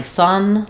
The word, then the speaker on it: son: So letter U and letter O both make the uh sound in sun. So my son likes looking at the sun.